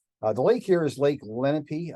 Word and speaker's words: Lenape: The lake here is Lake Lenape. I believe the proper pronunciation is closer to Lenape, the Indian pronunciation, but everybody calls it Lenape.